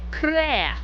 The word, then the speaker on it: Claire: Claire! That's how they pronounce it in Japanese.